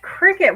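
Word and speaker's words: Cricut: And C U T is cut. It's pronounced cricket.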